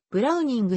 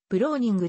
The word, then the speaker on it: ブラウニング: 設計家である本来 8 時ブローニングの発音はブラウニングに近いが慣例的にブローニングと表記される本稿でも